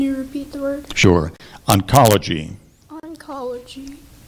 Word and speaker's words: oncology: sure it's a noun are there any alternative pronunciations there is let's see if I can get this out oncology oncology or oncology may I have the